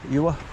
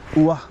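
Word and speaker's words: Ure: the bridge, over the river, Ewa, or U-R-E, Ua, or whichever way you want to pronounce it, and then go along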